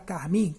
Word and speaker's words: carmim: Se você pegar a palavra carmim, carmim, carmim, a sílaba mais forte é o mim.